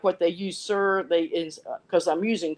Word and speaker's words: ser: just be my oh the sir is not s-i-r they write s-e-r like why why you're pronouncing it the same way it's the same type